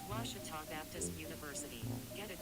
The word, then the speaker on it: Ouachita: How would you pronounce it? Ouachita. It's Ouachita Baptist University. Get it right. It's Ouachita, people. It's Ouachita. Washita.